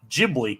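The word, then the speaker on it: Ghibli: of people say jibli it sounds like the correct pronunciation is jibli so well the way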